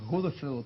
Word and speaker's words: Godefroot: On dit bien Godefroot. Godefroot, comment prononce-t-on votre nom exactement? Rodefroot. Rodefroot. Oui.